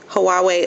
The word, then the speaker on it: Huawei: wanted to tell you guys about the cricet Huawei asend and that is how you pronounce it huawe um I guess it's like